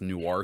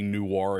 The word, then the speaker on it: noir: It's a French word. We're all saying it wrong.